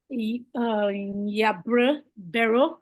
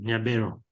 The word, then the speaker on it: Nyabero: Over to you, Yabre Bero. Sorry if I'm not pronouncing the name right. Please correct me. Hello. Hello. So this is Nyabero. That's the correct pronunciation, Nyabero.